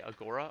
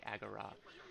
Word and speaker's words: agora: agora um and sorry i pronounced it the american way not the ancient greek way agora um we got through